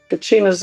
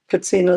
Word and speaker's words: Katsina: Kacina's English. Katsina is how you say it in Hopi.